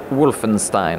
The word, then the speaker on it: Wolfenstein: battle between Wolfenstein or Wolfenstein how do you pronounce it yourself Wolfenstein Wolfenstein alright now now we have it on